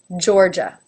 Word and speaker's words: Georgia: flora flora but it's really not its own syllable it's not flory flora Florida Florida Florida Georgia now both the vowels that come after the